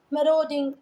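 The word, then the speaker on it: marauding: इसका प्रोनाउंसिएशन बेटा एक बार गूगल पे ज़रूर देख लेना, मराउडिंग ऐसे करके है।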